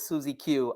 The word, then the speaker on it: SuzieQ: hear yourself yeah so the way you pronounce it is susie q i always write the